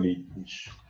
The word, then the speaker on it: Heimlich: Profe, ¿cómo se pronuncia esto? Heimlich.